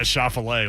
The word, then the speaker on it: Schauffele: Yeah, Schauffele, like he's a chef.